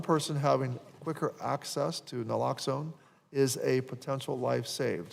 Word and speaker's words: naloxone: Uh this bill also will allow veterans access to uh naloxone Naloxone, is that what How do you say that?